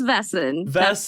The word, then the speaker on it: Vaesen: of a vessen or however you've seen how to pronounce it I've seen like six different ways yeah I believe it's vessen that's what I've looked up so wonderful wonderful thank